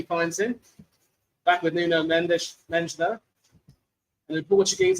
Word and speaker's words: Mendes: Back with Nuno Mendes though. And in Portuguese, it's pronounced Mendes, not Mendes.